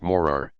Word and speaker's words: Morar: flat Shore in the direction of morar 111 pronounced morar no one could accuse major Keith wendam of